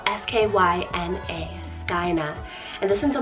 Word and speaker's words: Skyna: Then I have Skyna, spelled S-K-Y-N-A, Skyna.